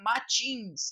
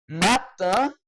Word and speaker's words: matin: Il y a des matins comme ça. Je suis de bonne humeur. Je sais pas pourquoi. Il y a des matins comme ça. Cuidado para não pronunciar matins, tá? É matin.